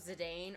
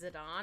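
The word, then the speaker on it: Zidane: I didn't realize it's because I wasn't sure if it was Zedane or Zidon, but it's Zidon.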